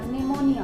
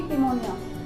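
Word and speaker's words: pneumonia: पहले आ रहा है, लेकिन जब हम इसको प्रोनाउंस करेंगे तो ये ना से आएगा, निमोनिया, ना कि पिमोनिया। तो जब भी पी जो है वो एस से पहले आएगा या एन से पहले आएगा तो हमारा जो पी है वो साइलेंट हो जाएगा।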